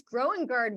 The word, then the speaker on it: Grønnegaard: podcast I am so excited to have Lars growing guard with us today welcome to the show hey